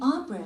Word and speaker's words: opera: Hi, are tickets for the opera still available? 오페라라는 발음은 없어요.